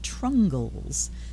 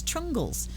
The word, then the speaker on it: Trungles: And So they take the trung and the le and put it together into trungle and add an S. Trungles is a Philippines-born Vietnamese-American comic book artist and illustrator.